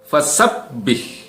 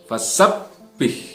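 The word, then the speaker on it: فَسَبِّحْ: Fasabbih. Pertama di situ ada huruf ba yang bertasdid. Fasabbih. Ya. Harus digandakan huruf ba-nya, tidak sekedar fasabbih, tapi fasabbih.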